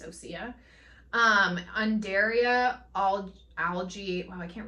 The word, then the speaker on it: Osea: I thought it was O'Shea for some reason, but I think Nicole says Osea. So we're gonna say it's Osea.